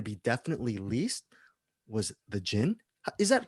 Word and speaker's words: Djinn: was going to be definitely least was the gin is that correct they might pronounce pronouncing it right sparky the gin yes i say cold gen and now we're